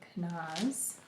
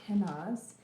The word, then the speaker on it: kenaz: so this is the Rune of canas or kenaz or canas however you want to say it I've heard it pronounced so many different ways but um it